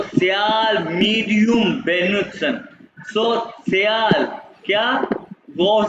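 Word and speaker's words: sozial: सो स्या मीडियम बेनुत्सन सो सियाल क्या गौर से सुनो 100 सियाल मीडियम सोयाल मीडियम कैसे प्रोनाउंस करो 100 सियाल मीडियम प्रोनाउंस करो मेरे साथ सोल इंग्लिश नहीं है सो सियाल क्योंकि को सेट करते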